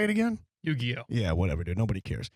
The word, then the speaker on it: Yu-Gi-Oh!: Yu-Gi-Oh!